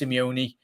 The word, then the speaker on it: Simeone: one hey brighter this it's pronounced simeone it likes let's go